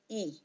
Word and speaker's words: y: Okay, the letter Y, which we pronounce E, okay, it's just like the letter E, E.